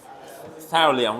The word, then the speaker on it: thallium: I forget because only once per year.ศิริวิทย์ว่าไงฮะ Yeah, thallium, right? Yeah, it's pronounced like this. Okay, it's written like this, thallium.